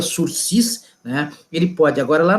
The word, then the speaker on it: sursis: Na prisão penal, ele for condenado, e aí o juiz conceder a ele o sursis penal, sursis, que é uma palavra francesa, se escreve sursis, mas se pronuncia sursis, né?